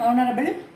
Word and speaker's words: honorable: and யூஸ் பண்ணுவோம் அப்படின்னா here the H is silent. ஸோ this is also a exceptional case. இதை நம்ம சொல்லும் போது an hour அப்படி சொல்ல மாட்டோம். an hour, an honest man, an honorable person.